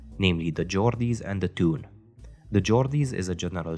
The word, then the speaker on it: Toon: the Geordies and the Toon. The Geordies is a general term to use to describe people who come from Newcastle, and the Toon is how Geordies pronounce the word town in their accent.